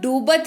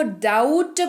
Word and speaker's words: doubt: तो इसको डूबत नहीं, इसको डाउट पढ़ेंगे, डाउट पढ़ेंगे।